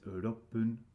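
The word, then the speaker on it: 六分: So when there are two syllables in the minute, like in ichi and in roku and hachi, you only pronounce the first syllable and it's with pun, right? So it's ipun 1 minute, roku is ropun, and hachi is hapun, and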